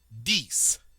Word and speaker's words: dix: En français, on dit dix, dix, dix. And once again, we do get to pronounce the final X, and once again, it is pronounced like an S.